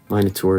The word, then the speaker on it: Minotaur: First thing, minotaur or minur. Miniur is the British UK pronunciation. I usually say minotaur. I was born and raised in the US with American English.